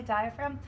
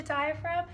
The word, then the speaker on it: diaphragm: first is a diaphragm there's that silent g so make sure you spell that correctly diaphragm and again the diagram